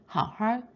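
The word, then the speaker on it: 好好: 뜻으로 동사 앞에 사용돼서 how하 잘 좀 해 how 쉬으시 잘 좀 쉬어 이렇게 권유를 할 때 how하 how 쓰게 되는데 여기서 주의할 점은 두 번째 how는 삼성이 아니라 일성으로 있습니다.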